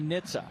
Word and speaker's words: NHTSA: And it's funny cuz they they said don't don't don't spell it out. Don't say NHTSA. Just say Nitsa.